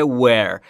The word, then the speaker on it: were: و تلفظ درستش رو باید دقت بکنید در مورد W-ش. قبلا گفتیم، باز هم میگیم برای کسایی که نمیدونن و یا برای یادآوری، زمانی که میخواید W رو تلفظ کنید لبهاتون حالت بوسه ای، آها آها بده بیاد بوسه، بوس بوس. چجوری بوس میکنی؟ لبهاتو قنچه میکنی، حالا هوا رو بده بیرون، میشه و و و و.